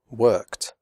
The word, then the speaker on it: worked: There are 3 ways to pronounce the final ed of regular verbs in the past simple. After unvoiced sounds such as k, p, f, and s, the final ed is pronounced like t, as in the word hot. The e remains silent.